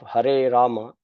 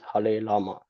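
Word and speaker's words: Hare Rama: to the cultural reasons in some languages the letter R does not exist therefore instead of harama one chance har Lama some devotees tend to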